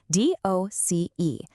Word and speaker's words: doce: 12 is doce, D-O-C-E, pronounced doce.